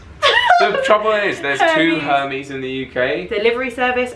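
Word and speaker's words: Hermès: that there we go it's not hermes hermes is funny to go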